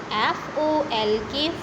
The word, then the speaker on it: folk: FOLK, folk. Folk. It is called folk. L is silent, okay.